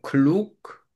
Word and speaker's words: klug: 유가 아니고 우죠. 글룩, Klug? Nein, 우 발음이라고 우, 글룩.